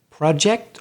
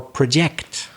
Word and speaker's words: project: against it the next prayer we've got is project or project for example the noun are you working on